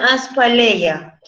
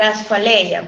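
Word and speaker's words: ἀσφάλεια: Después, lo contrario a la estasis sería algo que se pronuncia aspaleia, o bien podría ser asfaleia, pero se lo escribo ahí.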